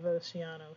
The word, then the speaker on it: océano: And notice your stress is on the A because you have an accent mark here. You have océano here.